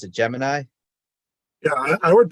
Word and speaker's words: Gemini: Times, which confirms that NASA officially calls the program Gemini instead of Gemini, even though I think in the Webster's dictionary, the pronunciation for Gemini is Gemini.